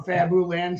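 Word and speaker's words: Fabuland: don't know you know that's how it's actually pronounced right because it's fabulous it's short for fabulous isn't it yeah I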